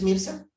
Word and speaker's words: Mirza: Entonces, Sánchez, Rodríguez, Mirza, ¿sí está? Sí, aquí estoy, profesor. Sí pronuncié bien, ¿verdad? ¿Sí es Mirza? Sí.